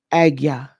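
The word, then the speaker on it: Ajna: So it's not pronounced Anja. I'm so bad. Agya.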